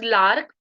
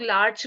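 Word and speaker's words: larch: next 19 medicine इ लार्क इसे लोग लार्च भी बोलते हैं बट I pronounce it लार्क लार्क इज for those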